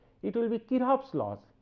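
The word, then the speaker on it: Kirchhoff: in this thing so actually the C should remain silent in pronunciation it will be Kir's laws right so C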